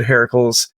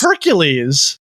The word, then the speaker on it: Heracles: It's Heracles, not Heracles. What? Who is this dude? It's Hercules. Hercules. Oh, it's okay. Then what? Why? Like I would look like Oh, because it's Greek. Hercules is the is the Latin version.